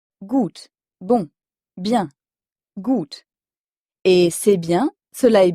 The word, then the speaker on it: gut: écrit g u t le U allemand se prononce toujours ou encore une fois c'est